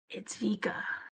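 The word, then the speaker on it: Bika: Yeah, it's Vika, but spelled with a B.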